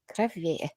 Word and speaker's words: Crevier: Crevier.